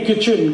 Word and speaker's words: kitchen: एक शब्द है किटचेन, KITCHEN, कहते नहीं किचन किचन किचन, फिर KIT क्यों लिख रहे हो?